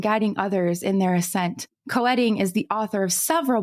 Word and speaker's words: Koetting: pronounced multiple different ways some people say ketting some people say coing but most pronounce it coing so I'm going to